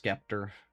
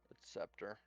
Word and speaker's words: Scepter: You know what's funny is there's actually people out there that think it's pronounced Skeptor. Scepter. You know, like you know what a scepter is?